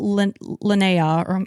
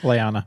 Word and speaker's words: Lyanna: away from them while Lana I always want to say her name wrong. Lyanna. Lyanna, thank you.